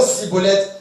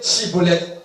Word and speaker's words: Schibboleth: Vous voyez, et l'imitation, c'est la prononciation Cibolette et non pas l'originalité Chibolette.